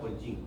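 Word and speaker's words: OLGIM: con el sistema Olga Olgin. Olga, así como se escribe, Olga y Olchin. O L G I M. Olga Y Ochín.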